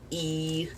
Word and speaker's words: y: You pronounce like E. That's I guess you could say the pronunciation is similar to Spanish because how you say and in Spanish you write a Y but you say E like I want to go to the store.